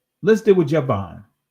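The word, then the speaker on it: Javan: but look at here look at Javon or yavan or ywan actually ywan is the ancient pronunciation Yan the name of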